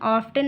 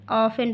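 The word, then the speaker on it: often: यहाँ पर देखिए टी साइलेंट है, इसको हम ऑफ्टन नहीं पढ़ेंगे, ऑफन पढ़ेंगे।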